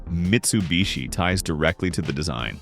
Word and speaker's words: Mitsubishi: Interestingly, even the name Mitsubishi, ties directly to the design. Mitsu means three, and heii, often pronounced bishi when combined, means water chestnut, a term often used in Japan to describe a diamond shape.